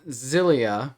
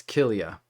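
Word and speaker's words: χίλια: see here we have the form zillia or archelia i keep saying it wrong but you know what i mean um it's that it looks like the x i l i a okay and so it's kilia so let's look now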